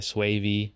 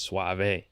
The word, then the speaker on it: Suave: I was saying Suave. It's Suave. Suave.